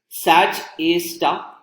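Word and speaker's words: Sgr A*: This black hole is referred to as SDR A star. It is pronounced as Sag A star.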